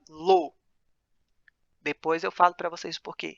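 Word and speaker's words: לא: Essa segunda palavrinha aí, que vocês estão vendo na tela, se pronuncia lo.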